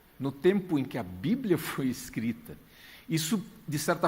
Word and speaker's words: Bíblia: entrou para o português, só que com uma pronúncia um pouco diferente. Não biblia, mas bíblia.